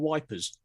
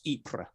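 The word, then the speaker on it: Ypres: called the battle of wipers because the brit the the average tommy couldn't pronounce ibra so it got called wipers because it's spelled with a y you're correct again if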